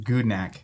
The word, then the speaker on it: Gudnak: They are the creators of Gudnak. How do you say that? Gudnak. Gudnak. Bad name. How do you guys say it? Actually, I know I was in the car earlier with Ian. He said Gudnak.